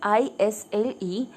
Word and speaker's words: Isle: The word here ISLE, S is silent here, so we are going to pronounce it as Isle.